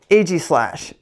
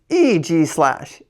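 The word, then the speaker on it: Aegislash: I used to say ag slash. It's not ag slash. It's EG slash. Eg slash. Isn't that wild? EG slash type steel ghost. In this defensive stance, EG slash uses its steel body and a force field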